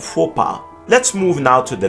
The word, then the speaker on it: faux: Its silence seems perhaps calculated in faux and faux pas.